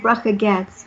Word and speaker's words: Bracha Goetz: I don't know why, but people that aren't Jewish can't do the ch. I don't know what that is. It's how does that happen? Then when you become Jewish, I don't know. But Bracha Goetz.